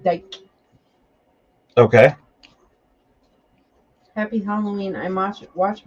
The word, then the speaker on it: Dick: Dick is pronounced Dyke.